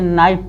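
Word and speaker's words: knife: इसको नोक पढ़ेंगे, के साइलेंट रहेगा। इसे नाइफ पढ़ेंगे, नाइफ।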